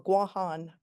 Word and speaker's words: Guam: uh the island of Guam, the territory of of Guam or Guan as it should be pronounced.